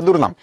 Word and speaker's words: দুর্নাম: একটাতে ব্যবহার করছি রসকার কিন্তু যখন আমি এদেরকে উচ্চারণ করতে যাই তখন কিন্তু উচ্চারণের ভেতরে আমি কোন পার্থক্য করি না আমি কিন্তু বলি না যে দূরবীন আমি বলি দূরবীন আমি বলি না দুরনাম বা দুরনাম টানাটানির কোন বিষয় এখানে আসে না। আমি নরমালি উচ্চারণ করি দুর্নাম নরমালি উচ্চারণ করি দুর্বিদ।